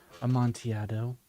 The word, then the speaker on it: Amontillado: How the, how do you pronounce that? Amontillado.